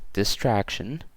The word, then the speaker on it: distraction: appreciation and contribution okay so the first row ends in tion so that means that it's the stressed syllable is two syllables from the end so in this case it'll be right here right so distraction appreciation